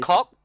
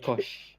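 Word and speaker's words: Koch: pronounced like German light. Ah, I don't know. I've heard cock. It's K-O-C-H, like K. Heckler and Kosh.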